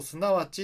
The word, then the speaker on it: 則: ここにあるすなわち読み方気をつけましょうすなわちって読みますそして意味はそこ